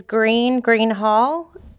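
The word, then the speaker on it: Gruene Hall: And is Green Hall? Do you have deep roots in Texas? No, I don't. So Greene is spelled Greene, and Green Hall is spelled Gruene.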